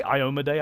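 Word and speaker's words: Iomedae: They say Iomade. I've always pronounced it Iomade. That feels a little weird, but...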